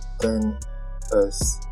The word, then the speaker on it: XS: Today I'm reviewing the iPhone XS Max, pronounced 10s Max.